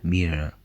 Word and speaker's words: mirë: rrugë të mbar, In the word, mirë, you heard an R sound, which was an alveolar or post-alveolar approximant, similar to the R sound in North American English.